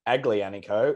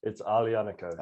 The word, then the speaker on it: Aglianico: It's not Aglianico, it's Aglianico. Okay, good. So it's a silent G.